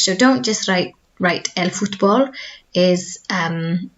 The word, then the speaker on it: fútbol: heads better and help us to improve our pronunciation, okay? So, el fútbol, so it's not foot, it's foot, okay? The U sound, el fútbol.